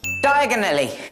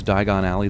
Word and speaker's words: Diagon Alley: sake diagonally wouldn't harry have to be like american to mispronounce diagon alley the way he does it helps advance the